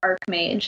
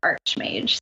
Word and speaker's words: Archmage: Dan may and Australia called it art mange and in the US we call it Archmage though either our I